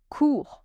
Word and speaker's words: cours: courir to run je cours ends with s cours with silent il court letter Silent.